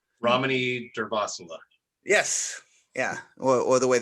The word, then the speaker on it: Ramani Durvasula: Rami Durvasula. Ramani Durvasula. Yes. Yeah. Or the way that I pronounced it.